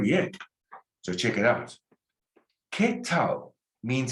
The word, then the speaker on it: qué: Every time you see QUE, just put a KE above it. ¿Qué tal? Because you don't pronounce generally a U after a Q. And you can write that down. I don't pronounce a U after a Q. And a Q sounds like a K, like in English, queen. ¿Qué tal?